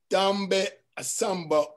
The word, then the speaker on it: Ndombet-assamba: You don't pronounce the N or the E. Ndombet-assamba.